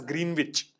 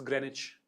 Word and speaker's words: Greenwich: which I used to pronounce as green witch. Knife. It's Greenwich.